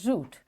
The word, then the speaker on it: route: Its common examples are root and root. These are two words. They are spelled differently. R-O-O-T, R-O-U-T-E. We pronounce it likewise, root.